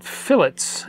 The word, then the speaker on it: fillet: curved Corners in Tinker CAD these are called fillets in CAD design it's spelled like filet but pronounced like fillet um